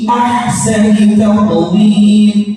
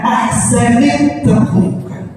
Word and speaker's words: أحسن تقويم: Insana fi ahsani taqwim. Ahsani taqwim. Perhatikan. Ahsani taqwim, bukan ahsanit taqwim, bukan ahsanit taqwim, bukan ahsanita, gitu.